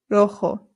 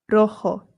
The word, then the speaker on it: rojo: Rojo. Rojo. Remember that the J makes a H sound.